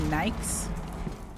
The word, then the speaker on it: Nike: It's Nike. It's It's Nike. American. No, Adidas. Adidas. It is Adidas. So, yeah, you said it right, Adidas. Who says Adidas? Some people do. It's Adidas. I know some people say Nike as well, you know, and they're wrong. So But it's Nike.